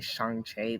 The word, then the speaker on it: Shang-Chi: Because listen, every time I would say it around my sister, it's actually Shang-Chi.